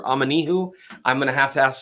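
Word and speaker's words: Omenihu: the making on Charles aminihu I believe it's pronouncer amanihu I'm gonna have to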